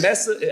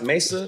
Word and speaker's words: Mesa: to Scottdale not Scott even Messa I think it's pronounced Mesa Mesa Messa it's about hour away